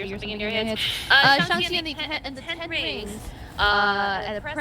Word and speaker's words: Shang-Chi: I saw Shang-Chi, or Shang-Chi, for people who need to see it phonetically or something in your head. Shang-Chi and the Ten Rings, at a press preview.